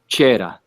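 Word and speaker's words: cera: wax which was called chera okay series series means wax Cher or cheres with a c I know I'm pronouncing it like a CH but that's exactly how it is in um in Latin okay so those those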